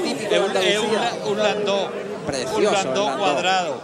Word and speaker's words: landó: Y solo cierra el landó porque este, lo hemos explicado en otras ocasiones, viene de una población alemana que se llama Landó. Landau. Landau. Efectivamente. Pero se pronuncia landó.